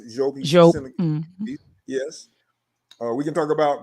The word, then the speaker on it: Diop: We can talk about Sheikh Anta Diop, which we're pronouncing Diop, but it's correctly pronounced Diop.